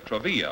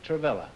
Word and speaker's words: Travilla: Groucho, Martha Mirrer and Bill Travilla are standing by. So, folks, come in, please, and meet Groucho Marx. Welcome to You Bet Your Life. Say the secret word. Martha Mirrer and Bill Travilla, huh?